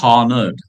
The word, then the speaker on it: honored: Yeah don't say honored. I am honored or I feel honored H is silent.